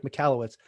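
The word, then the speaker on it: Michalowicz: say it mike mikalowitz right okay so mike mikalowitz and now i know that this is something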